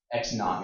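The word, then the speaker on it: x₀: How do you pronounce this? X with this 0? Anybody? Not. X naught. I mean, like 0 as the initial. So the idea is X naught, Y naught is your starting position.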